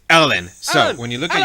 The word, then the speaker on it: ln: welcome to math so it's going to be Ln is because it's French or swiss or something European that I can't pronounce anyway it's Ellen so when you look